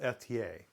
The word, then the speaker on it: Ethier: If you're a Canadian viewer, it's pronounced Etier.